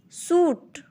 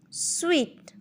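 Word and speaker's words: suite: Suit is wrong. Sweet is correct.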